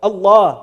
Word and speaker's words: Allah: Even the name of Allah is unprecedented. Even the way it's pronounced that the Allah when you say Allah, you don't say Allah anywhere else in Arabic. Even the way it's pronounced is unique.